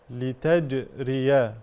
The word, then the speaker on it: لتجري: مظهره لتج ر لتجري قلقله الجيم وتكون شديده يعني فيها صفه الشده هكذا لتج ولا نقول لتج او لتج لا لتج لتج شديدها لفظ اجد قط بكت كما قال الامام ابن الجزيري رحمه الله فالجيم من صفاتها الشده اي انحباس الصوت هكذا لتجري الفلك فيه الفلك